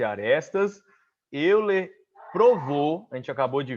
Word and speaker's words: Euler: Mas pronuncia-se Euler. Euler. Não fala óleo não, viu? É Euler, ok?